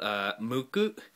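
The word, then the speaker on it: ムック: They're called Mucc. It's spelled in English M-U-C-C. In Japanese it's Mu, small tsu, and then ku.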